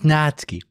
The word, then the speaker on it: Natsuki: My current meme me wants to punch past me again for that because, well, it's Natsuki. The U is silent, like the H in German and English.